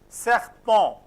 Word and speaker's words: serpent: Serpent. Serpent. O-N, to be pronounced as on, and last consonant not to be pronounced.